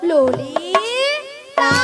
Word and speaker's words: ললিতা: লালায় লালায়ও নয় আর ললয় ললয়ও নয় বল ললিতাল বল ললিতা ভালো করে উচ্চারণ করো থাম না নিয়া পড় যা গরম